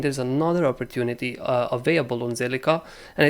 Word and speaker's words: Zilliqa: so this time around made my research it's called silica let's move on right